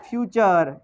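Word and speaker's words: future: Past और फ्यूचर। ठीक है, इसकी जो उच्चारण है इसका, वो फ्यूचर पढ़ना है ना। इसका उच्चारण क्या है? ऐसा नहीं भाई आप फुटूरे पढ़ लो, फुटूरे नहीं होगा ना।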